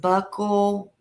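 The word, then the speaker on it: buccal: It's It's pronounced buckle.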